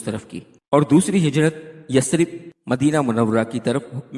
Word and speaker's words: یثرب: کا نام تھا یثرب، اور یہ یثرب لفظ نہیں ہوتا، اس کو یثرب صحیح تلفظ کے ساتھ پڑھا جائے گا۔